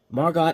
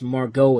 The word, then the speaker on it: Margot: So I guess here the T is silent.